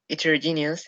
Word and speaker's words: heterogeneous: Heterogeneous has 5 syllables, and the third one is no, wait. The fourth one.